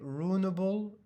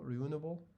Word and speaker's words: renewable: you know we say ruinable you know ruinable energy ruinable you said energy let me just check ruinable renewable let me check renewable energy yeah I know but uh correct but I meant the pronunciation uh the pronunciation let me just put on French English ruinable energy renewable energy renewable sorry renewable renewable energy renewable energy renewable yeah this is the correct pronunciation renewable Rin Rin renewable